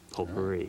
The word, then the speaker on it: potpourri: But I can hit this button labeled say and confirm that it is pronounced potpourri.